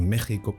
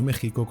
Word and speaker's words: México: ese momento, es decir, seguir escribiendo México con X, aunque se pronunciara como J en vez de con la grafía J como recomendaba la RAE en aquel momento.